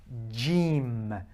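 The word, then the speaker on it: جيم: J, simple. J for joy, okay, and Jeem, Jeem, okay, J.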